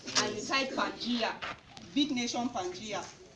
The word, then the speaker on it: Pangea: Pangea is spelled P-A-N-G-E-A.